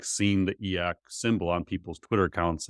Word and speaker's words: e/acc: I would not consider myself eak is is actually like how you pronounce e Dash slac CCI certainly not e um but this is